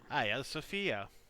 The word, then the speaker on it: Hagia Sophia: Hagia Sophia or as the locals say it, Aya Sophia.